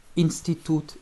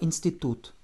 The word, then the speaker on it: институт: à nouveau un T, avec une accentuation sur le OU. Institut. Это институт.